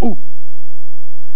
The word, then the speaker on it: août: ne sert à rien, enlève donc le T également, parce que le T, il ne sert à rien. Regarde, ça se prononce quand même « ou ».